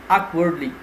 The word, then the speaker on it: awkwardly: The next word is awkwardly. So the stress would be on the first syllable and it's adverb, awkwardly.